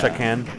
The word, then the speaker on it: Chakan: That starts with a C, right? Is that how it's spelled? Yeah. Chakan. Like Shaka Khan.